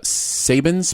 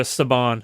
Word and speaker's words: Saban: be talking uh the Power Rangers movie uh sabin's Power Rangers Sabin Sabin or sabon sabon well I've pronounced it wrong everywhere that I've done done